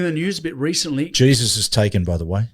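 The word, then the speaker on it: Jesús: Jesus. You don't pronounce the J.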